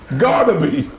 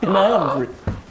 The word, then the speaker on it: Gnabry: Garnaby. That was grand. Sounds like he plays for Birmingham, doesn't No, he? come on, that's the worst pronunciation I've ever heard. Garnaby. Gnabry.